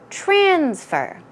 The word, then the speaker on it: transfer: most commonly people say transfer okay that can be used in the verb and the noun form but it would be proper to put the stress on the second syllable when you are using transfer as a